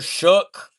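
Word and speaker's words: Shough: It's pronounced Tyler Shook. It's pronounced Tyler Shook.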